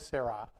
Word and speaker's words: Sarai: So Sarai was the one that gave the most pronunciation. So her name is Sarai, and this is before the covenant.